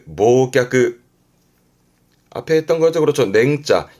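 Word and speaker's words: 忘却: 발음은 모끄 앞에 했던 거죠.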